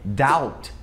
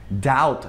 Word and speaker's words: doubt: E outra situação também é antes do T, quando o B vem antes do T na mesma sílaba. Por exemplo, a palavra dúvida em inglês, que é doubt. Doubt, não é doubt.